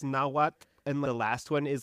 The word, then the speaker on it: Nahuatl: And I'm so sorry if I mispronounced that, but that's the way I think it's pronounced, Nahuatl, which is like...